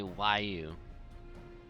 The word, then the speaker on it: Huayu: So they don't say Roel, and instead say Wayu. What?